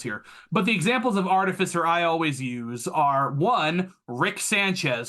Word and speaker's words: artificer: also the newest one artificer you might also hear artificer and I don't like that I'm an artificer is how I personally pronounce it so artificers are